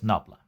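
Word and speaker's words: nabla: gradient is shown here this symbol is pronounced as knobla a non-standard assumption we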